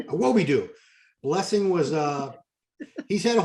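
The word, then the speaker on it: Awodibu: Unless Blessing Awobidoo, the boogie, Awobidoo, let me say it right, Awobidoo.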